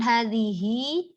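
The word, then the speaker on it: هذه: yang pertama, menulis dzalika, hadhihi, hadza, setiap huruf awalnya dibaca panjang dengan menggunakan fathah berdiri. Bukan alif ya, tapi fathah berdiri. Jadi harokat fathah yang biasanya miring itu berdiri. Dan bacanya panjang.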